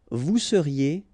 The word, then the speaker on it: vous seriez: Vous seriez, EZ at the end, et seriez. Il serait, so ENT not pronounced.